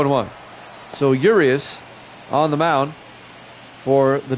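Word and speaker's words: Urías: fifth Julio uas will come up it's actually pronounced urius I was listening to the PA guy Julio urius Johnny Damon the center fielder will come up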